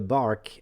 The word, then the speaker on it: barque: it in french it's in bach which sounds like bark like a dog barking a bark so if you talk about the the parkway no no more backway bark is a bark brqe is pronounced like a bark the definition you would